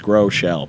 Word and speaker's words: Groeschel: So Groeschel. And so the host asked me, like, how do you pronounce your last name? And I'm like, it's easy, it's 2 words, Groeschel.